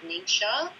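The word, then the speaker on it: NingXia: sort of throw people a little so we pronounce it neat show it comes from the province in china where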